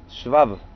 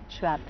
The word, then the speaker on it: Schwab: Originalmente se escribe S-W-A-B larga. Es el alemán del sur de Alemania, del Volga, donde era mi abuelo. ¿Se pronuncia? De los campesinos. Schwab. Schwab.